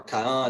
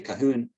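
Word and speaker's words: Cahun: kind of in between she took kahun or khan it's pronounced in french but a lot of english speakers say kahoon um it was she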